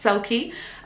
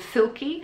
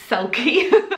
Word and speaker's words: Selkie: i just said it it's pronounced sulky some people have thought it was called silky yeah and then some people who've read it and so all selfie it's not it's called sulky and the reason we